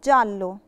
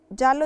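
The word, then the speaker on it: giallo: بننطقش ترقيه مثال عليها كلمه جالو لو بصيتوا معي جال لو فيها ايه بس مش هننطق الايه علشان جه وراها الفوكال فبننطقها جلو جلو يعني اصفر كلمه جورنو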